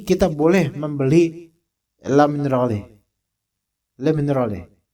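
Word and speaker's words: Le Minerale: Baca lam minal ini bacanya begitu lam minal gitu l minal karena ini dari bahasa Prancis ini lumal ya bukan bahasa Indonesia antum bacanya le mineral nah gitu bacanya sambil kumur-kumur ikhwan l minal gitu bacanya nah misalnya ini dijual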